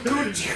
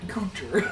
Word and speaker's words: Kutcher: Where's Ashton Kutcher at? You Ashton Kutcher. And where's Ashton Coochie? That's his name. Ashton Kutcher.